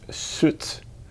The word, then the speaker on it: soet: Suit. So we can hear that this is pronounced soet.